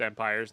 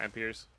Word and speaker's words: Empires: It's empires, not empers.